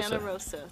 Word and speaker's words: Fontanarosa: Fontanarosa, thank you. I did not want to mispronounce it.